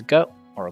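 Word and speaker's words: グ: normal add document marks this is goo or goop you pronounce this as goo like in the word good same thing as before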